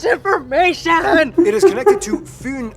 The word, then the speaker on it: Fyn: It is connected to Fyn Island, not Finn Island, by the Great Belt Bridge completed in 1998.